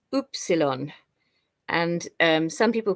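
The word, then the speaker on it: upsilon: English in Greek it's oopsilon and some people pronounce it Epsilon but it's actually oopsilon and it makes the sound ooh then here I also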